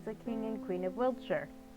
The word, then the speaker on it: Wiltshire: king and queen of Wiltshire or Wilshshire. I say here because that's what how they pronounce it in England and I've been watching a lot of great British bake off.